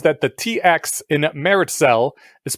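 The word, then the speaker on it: Meritxell: The first from MTC says that the TX in Meritcell is pronounced like CH in English. The final syllable therefore sounds like the name of the player character in Portal. Okay, yeah, so Meritcell.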